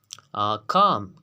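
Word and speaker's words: calm: काम काम हम कहते हैं खामोश। यहाँ पर वर्ड एल जो है ये साइलेंट होके काम।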